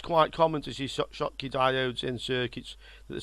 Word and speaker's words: Schottky: This is what's called a Schottky Diode. It's spelt a bit strange. It's a German scientist's name, Schottky, who invented this type of diode. The Shotkey Diode, the symbol looks like this.